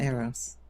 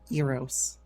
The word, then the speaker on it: Eros: with a horny boy not Aros sorry Aro Eros I need to pronounce